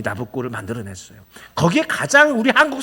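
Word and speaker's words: Nabucco: 이 나부코라는 말은 사람 이름이에요. 느부갓네살을 로마식 이름으로, 이태리 발음으로 하면 나부코예요.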